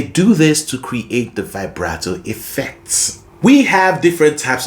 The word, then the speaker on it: vibrato: By the way, did you know vibrato is an Italian word and it's actually pronounced vibrato? Vibrato, but a lot of people call it vibrato, so I'll stick to that.